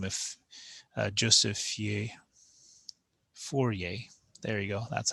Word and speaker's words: Fourier: a mathematician by the name of joseph yeah fourier there you go that's how you say his